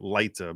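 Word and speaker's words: pendente lite: temporary restraining order, or pendent lite in Latin, which is basically it's relief pendent lite, which is or some people pronounce it lita because it's spelled L-I-T-E, but basically pending litigation, which basically means this is the relief.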